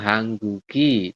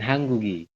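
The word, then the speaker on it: 한국이: Nanti bacanya dia nyambung ya, Robun. Ya, jadi nyerempet lah. Jadi ini dibacanya adalah nyeret ya. Kalau bahasa Indonesia nyeret mungkin dibacanya nyeret. Jadi gioknya tuh nanti dibacanya ke sini. Ya, hanggugen. Kemudian hanggugi.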